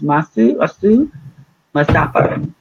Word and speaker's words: Asumahu Mustapher: Her name is Asumahu Mustapher. Did I pronounce that correctly, folks?